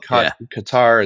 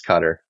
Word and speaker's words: Qatar: some people call itar some people call it Qatar it's for for intense and it's it's cutter you know that's how made a big change